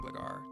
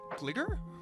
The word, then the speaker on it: Gligar: Gligar? That's not how you pronounce it. Gligar, and we get Spike number 3.